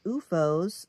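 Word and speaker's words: OOFOS: So, you know, I did research and I was himming and hawing and UFOs were like it's spelled O FO S.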